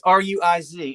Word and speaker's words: Ruiz: David said the Spanish pronunciation. But it's Ruiz, and that's my winner.